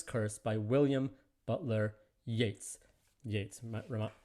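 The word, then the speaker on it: Yeats: by william butler yates yates rhymes with gates we listened last time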